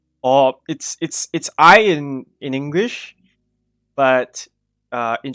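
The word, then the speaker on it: い: Or it's I in English, but in Japanese it's pronounced I.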